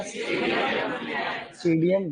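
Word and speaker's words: Psidium: सीडियम गुआ जावा, ठीक है। बहुत बढ़िया। सीजीजियम क्यूमिनाई रे, सीजीजियम क्यूमिनाई। एक्चुअली सीडियम जो लिखते हैं, सीडियम, उसमें पी साइलेंट रहता है, ऐसे लिखते हैं।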